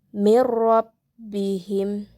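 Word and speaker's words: من ربهم: Selanjutnya terdapat pula lafaz mirrabbihim, yang dimana lafaz mirrabbihim ini terdapat hukum tajwid yaitu idgham bila gunnah, yang dimana nun sukun bertemu dengan huruf ro, sehingga cara bacanya pun harus jelas. Mirrabbihim, seperti itu.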